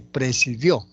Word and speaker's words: presidió: Presidio y presidió.